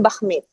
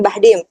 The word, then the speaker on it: Bachmid: Di YouTube-nya dan sosial medianya Novia Bahmid. Bachmid Bahmid. Tapi ya, bacanya bukan Bahdim.